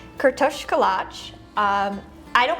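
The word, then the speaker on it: kürtőskalács: Uh it's pronounced Kto Kalatch.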